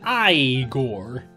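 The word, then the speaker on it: Igor: that the Thieves Guild my being there it's pronounced i Gor this doorway at least at a private residence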